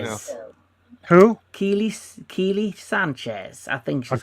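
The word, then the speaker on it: Kiele: So how you spell her name is Kiela, then Sanchez. So I think it's pronounced Keely. Keely Sanchez.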